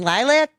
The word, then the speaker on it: LYLVC: We're going to play Barely Humid by the band Lilac. And you spell it L Y L VC. Correct. Yep. B instead of A, baby. Yep. So, Yep. So, here we go. Lilac.